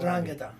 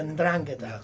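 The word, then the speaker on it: 'Ndrangheta: And out of Napoli, you have Gomorrah, and then I can never pronounce the other one. Calabria's and Drangheta. Yeah. Ndrangheta.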